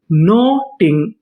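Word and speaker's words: knotting: चीज याद रखनी है अगर आपको एन से पहले के लिखा मिले तो तो हम लोग के का उच्चारण नहीं करते। हम लोग के के बाद का उच्चारण करते हैं। तो पूरी मीनिंग क्या बनी? नो। डबल टी इसे क्या पढ़ेंगे? टा। और आगे लिखा है आई एन जी नॉटिंग।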